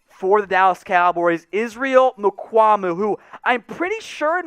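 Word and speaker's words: Mukuamu: Israel how do you say the last name Mamu Mamu so a lot of Cowboys fans wondering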